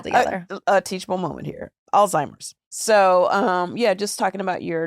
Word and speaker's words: Alzheimer's: Because the T yeah. is silent. Because I was looking at the Z. word. ALZ. Alzheimer's. Alzheimer's. Yeah, it's a hard Okay, I've word. been saying it wrong for years. Maybe we should just take that out. No, don't take it out. Don't take it. It's good. Alzheimer's. Yeah. Alzheimer's with a Z.